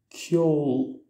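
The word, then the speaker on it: ceol: Les voyelles E et O se prononce comme un O long. Exemple, pour dire le mot musique, en irlandais se dit kjol, kjol, kjol.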